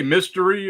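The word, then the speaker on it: Mystère: M Myster though is you say mystery or how do you say it Myster like French right it's French yeah it's um it's not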